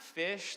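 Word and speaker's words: Phish: or you're like what's fish um it's not fish like the underwater creature it's uh it's the jam band spelled with a pH um but my my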